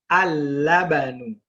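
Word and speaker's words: اللَّبَن: Also, there's a slight subtlety that in the word labanun, which is included in this list here, in the first list, labanun, the lam is not pronounced.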